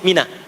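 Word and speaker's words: منى: introspeksi dia dimuna ya sebetulnya Muna asalnya bukan Mina sebetulnya Muna tapi boleh disebut Mina karena kebanyakan diucapkan Muna itu harapan menjadi baik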